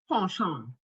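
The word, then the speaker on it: penchant: So, it's pronounced pan.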